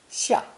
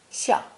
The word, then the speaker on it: 下: This new character for under, below, or the verb to go down, descend, is pronounced fourth tone, 下, 下.